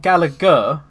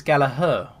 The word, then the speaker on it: Gallagher: I've always thought Gallagher, like Oasis, but apparently it's Gallagher.